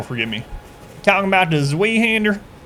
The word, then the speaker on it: Zweihander: It's supposed to be pronounced as a Z. Station is Zweihander, Zwei.